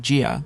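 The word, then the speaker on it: 家: The Chinese character for home or family, pronounced jia, is composed of two radicals, a roof on top and a pig underneath.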